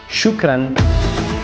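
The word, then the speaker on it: شكرا: Así que nuevamente nos despedimos con una palabra en árabe que significa gracias y se pronuncia shukran.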